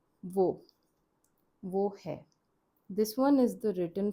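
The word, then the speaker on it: वह: But these days what people are using more is vo.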